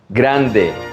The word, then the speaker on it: grande: Grande, not grande.